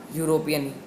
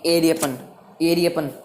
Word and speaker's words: European: European. You. अब ईरियपन, अब ऑरियपन तो नहीं बोलेंगे यूरोपियन को, सॉरी एरियपन क्योंकि ए उसकी प्रोनाउंसिएशन होती है, हम उसको एरियपन तो नहीं बोलेंगे, यूरोपियन ही बोलेंगे, क्योंकि बेचारे जो बंदा